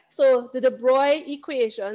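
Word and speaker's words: de Broglie: not the broccoli equation this is not english it's pronounced differently so this is called the de broy kind of like they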